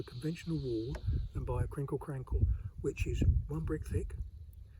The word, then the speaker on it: crinkle crankle: we end up with 'crinkle crankle' some Suffolk people say 'crinkley crankley', because they pronounce the 'e' on the end just the same way